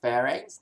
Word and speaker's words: pharynx: how to pronounce this so this will be called as pharynx and this one will be called as larynx okay so from mouth to